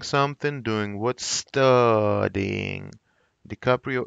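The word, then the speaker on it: DiCaprio: здоровья дикаприо и капли ди каприо вот ну фамилия итальянская то есть можно ее как хочет рассказать дикаприо и не как бы в принципе не обязательно на английский манер произносить как правильно ди каприо но иногда вы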